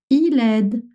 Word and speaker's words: il aide: You're going to say Il aide. Elle aide. One word although you have two words.